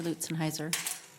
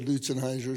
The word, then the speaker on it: Lutzenheiser: But my dad said Lutzenheiser, so that's what I go with.